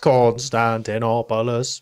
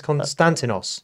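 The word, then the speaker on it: Konstantinos: not Constantinopolis, is it? It's Constantinos.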